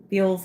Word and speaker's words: Bealls: Um, I thought I would do a Beals haul. So Beals is like Burlington, Ross kind of a store. It's spelled Bealls.